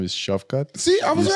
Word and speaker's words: Shavkat: How you pronounce his first name? First name is Shavkat. See, I was you right. Perfect. Shavkat. Yeah. Huh? Shavkat?